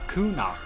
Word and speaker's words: Kuno: the new region uh Kuno I had to look it up that's how you pronounce it apparently so this new region